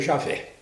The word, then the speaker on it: Javé: aqui o rei favo rei que a gente pronuncia eu javé aquele que é porque é bom a gente